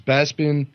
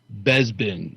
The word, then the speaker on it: Bespin: You know what I always wondered about Billy Dee is why he pronounces Bespin Besbin, like it's spelled with a B. We buy flowers on Besbin.